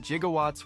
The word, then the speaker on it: gigawatts: entrance genuinely startled him the pronunciation of gigawatts as gigawatts and Back to the Future wasn't actually a flub by Christopher Lloyd 21 G the filmmakers consulted an electrician who told them that jigawatts was a legitimate pronunciation at the time2 watch so while it